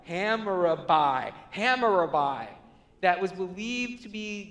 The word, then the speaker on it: Hammurabi: There was a tablet they found called the Law of Hammurabi. I totally just butchered that. Hammurabi.